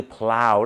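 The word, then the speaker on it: plough: ต่อ ไป นะ ครับ p l o u g h ก็ คือ พราว นั่น เอง ครับ พราว อย่าง เช่น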